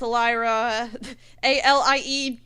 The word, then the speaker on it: Alieraah: It's Alieraah.